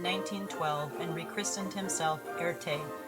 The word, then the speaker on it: Erte: and Rec christened himself Erte from the French pronunciation of his initials R and T he would go on